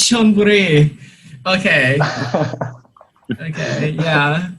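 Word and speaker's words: Chonburi: Uh, so Jolpuri. Oh, it's Shonburi.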